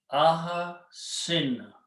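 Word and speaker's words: أحسن: the actual Arabic script, aha sin. If I pronounce this way, kasra and a sukoon, this becomes a command.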